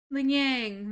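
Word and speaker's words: Lingyang: Ling Yang.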